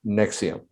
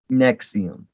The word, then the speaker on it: NXIVM: The NXIVM is actually pronounced Nexium. Nexium.